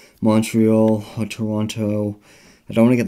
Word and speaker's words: Toronto: In Ontario, I went to Toronto, which I think the Canadians don't pronounce it with the other T.